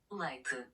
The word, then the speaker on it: Leite: Well, I'm going to turn to our Siri pronunciation engine here to ask Joanna what the Portuguese do with this word for milk. Leite.